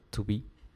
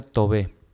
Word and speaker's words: to be: es un verbo si se pronuncia to be se pronuncia no se pronuncia tuve esto tenemos que tenerlo